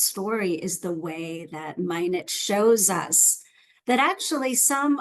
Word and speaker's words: Minot: for some reason I always thought it was minow that's how I always said it but then I was corrected actually that it's actually pronounced minet okay so Susan minet right and you can